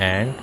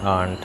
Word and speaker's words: aunt: तो ये सब जो एंट है इसको आप दो तरह से इसका उच्चारण कर सकते हैं। आप कह सकते हैं एंट और आप कह सकते हैं आंट। तो एंट जो है इसका अमेरिकन प्रोनाउंसिएशन है और आंट इसका ब्रिटिश प्रोनाउंसिएशन है। तो दोनों प्रोनाउंसिएशन आपको सुनने को मिल सकते हैं।